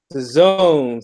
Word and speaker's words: DAZN: Pat, give me the name again, because I always mispronounce the name. What's the name, Pat? DAZN, son.